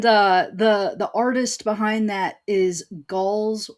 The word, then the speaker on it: Gaahl: Yeah, and the artist behind that is Gall's Weird. Okay, you gotta spell that.